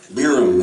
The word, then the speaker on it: Biram: Biram is okay, because at least it sounds like it looks like it's spelled.